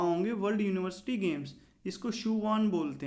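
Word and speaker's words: Sichuan: इसको सियुआन बोलते हैं दोस्तों, इसकी प्रोनाउंसिएशन।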